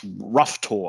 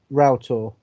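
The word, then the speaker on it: Roughtor: and uh in bodman and i think it's pronounced rough tour i'm probably pronouncing it incorrectly no route or real talk okay and brown willy um basically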